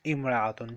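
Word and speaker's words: امرأة: The singular form of this yes when we add alif lam it will be pronounced al mar'atu when we don't write alif lam it will be pronounced imra'atun this is just pronunciation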